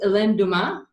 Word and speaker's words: Helene Dumais: Her name is, and I hope I pronounce this right, because my French is really not that good. It's Helene Dumais.